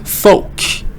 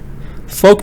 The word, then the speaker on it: folk: Follow, fold, file, folk. Folk means like people. The L is silent. Say folk.